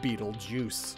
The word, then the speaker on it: Betelgeuse: It shines bread, and its name is pronounced like Betelgeuse.